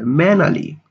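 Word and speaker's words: mannerly: এখানে আর এর উচ্চারণটা হবে না, তাই উচ্চারণটা হবে ম্যানালি, ভদ্রভাবে।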